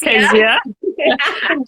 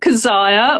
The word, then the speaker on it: Kesiah: So I'm Kezia, pronounced Kezia, not Keziah or other things.